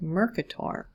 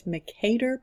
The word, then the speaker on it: Mercator: called a Mercator projection I've also heard that name pronounced mur Qatar but I'm pretty sure it's Makeda projection named after Gerrard Asst